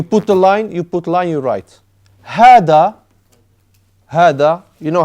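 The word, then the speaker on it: هذا: Hada, you know how to write hada?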